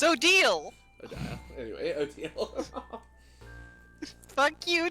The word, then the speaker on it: Odile: But we have the canon pronunciation by the creator. Odile. It's Odile.